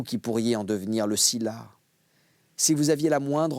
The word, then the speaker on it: Sylla: Sylla, ça s'écrit S-Y-2-L-A, et ça se dit aussi Sulla ou Lucius même, ça veut dire d'origine noble.